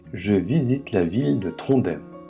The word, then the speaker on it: Trondheim: visite la ville de trondem à ne pas prononcer trondim comme à l'allemande situé au milieu du